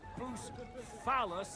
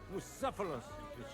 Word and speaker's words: Bucephalus: What kind of name is Bucephilus, anyway? It's pronounced Bucephalus.